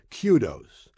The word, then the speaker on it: kudos: singular noun meaning praise and it is properly pronounced Kudos there is also a plural form spelled the